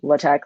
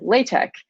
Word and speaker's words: LaTeX: am saying it or latex like other people say it they're both right it's just instead of pronouncing like latex you're just adding a k at the end um so latex is